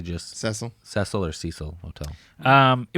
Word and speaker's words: Cecil: I think we pronounced it Cecile, I think, the first time, but I think it's actually just Cecil.